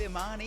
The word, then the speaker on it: Imani: All right, here we are with Imani. Did I pronounce that correctly? Yes, you did.